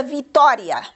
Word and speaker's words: vitória: A palavra vitória, como é que nós classificamos? É uma palavra esdrúxula.